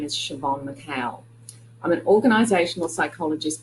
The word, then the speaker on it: Siobhan: bit more about me my first name is pronounced Siobhan which is an Irish name that means Joan in English so my full name is Siobhan McHale I'm an organizational